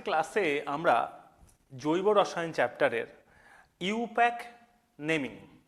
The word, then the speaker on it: IUPAC: আচ্ছা প্রথম কথা বলি ইউপ্যাক বা আইউপ্যাক প্রোনাউন্সিয়েশনটা হয় ইউপ্যাক okay so international union for